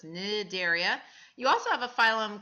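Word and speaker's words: Cnidaria: are in philm nidaria starts with a C but the C is not pronounced so it's nidaria you also have a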